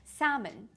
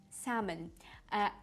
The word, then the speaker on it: salmon: Western countries for example salmon salmon L is not pronounced okay uh she enjoys